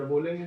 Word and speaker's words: beau: जी आर कहीं आ जाता तो उसका साउंड घा की तरह आ जाता है, तो घो और लास्ट लेटर बोलेंगे नहीं, तो घो.